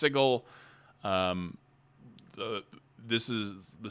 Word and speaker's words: Sigil: Some people call it Sigil, but technically it's pronounced Sigle.